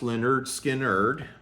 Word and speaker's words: Lynyrd Skynyrd: Aerosmith's self-titled debut album going up against Lynyrd Skynyrd's pronounced Lynyrd Skynyrd.